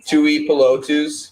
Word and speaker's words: Tuipulotu: Tui Tuipulotu.